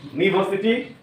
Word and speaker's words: university: So it is that the rules is that some words are pronounced with the consonant sound beginning with vowel such as what? U, O, E, as in university, European.